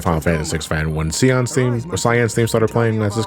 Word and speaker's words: Cyan: Well, like as a kid, I used to pronounce the name as Sion, but it's Cyan.